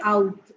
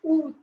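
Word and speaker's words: août: is only focus on this area don't say out okay it's UT August September October November December is very much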